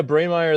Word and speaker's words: Breymaier: How was the pronunciation of the last name? Jordan's normally pretty good with that stuff. Yeah, Breymaier.